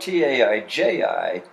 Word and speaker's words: Taiji: ta AI CH I well yeah the way that the system I use that would be spelled ta i ji q ua in Tai Chi's brother but it's pronounced Taiji Trent IG train and